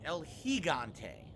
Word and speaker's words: El Gigante: Gigante, I'm saying it wrong. It's supposed to be El Gigante.